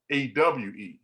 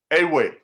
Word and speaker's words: Ewe: you go to wikipedia they call them awe right but the word the proper pronunciation is if i saw a young lady in the airport like you said i'm always asking i said where are you from and she said ghana i think so i said well she'll try she said a way now they'll say this